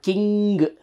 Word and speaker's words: king: So there is no need to pronounce G. It is not king.